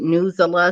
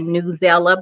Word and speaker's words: Newsela: those websites is well some people pronounce that news Allah some people say newsela but it's news8 a ne WS and e W is ela come uh-huh excellent come and